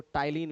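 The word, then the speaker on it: ptyalin: इसके अलावा इसमें प्रेजेंट होता है सेलवरी अमाइलेज जिसको टाइलीन भी कहते हैं। पी साइलेंट होता है। पी टी वाई ए एल आई एन।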